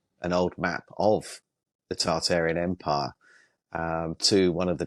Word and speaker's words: Tartaria: It's spelt Tartaria, but they dropped the first R, so Tartaria.